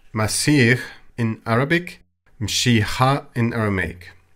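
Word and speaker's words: مسيح: And the Christ is pronounced Masih in Arabic, Mshiha in Aramaic.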